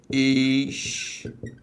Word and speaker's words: história: Então, repare, se agora eu fiz esta divisão, acompanhe, a sílaba tônica deixou de ser a penúltima e passou a ser a antepenúltima.